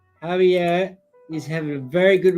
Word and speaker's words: Javier: I'm assuming it's Javier and not Xavier. It's definitely not Xavier when it's a Spanish pronunciation.